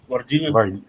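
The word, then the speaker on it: Varginha: that happened in uh it sounds like Virginia but it's not there's like an extra H there pronounce it I mean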